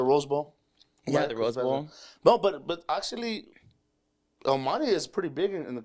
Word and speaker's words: El Monte: Let me say it correctly, El Monte.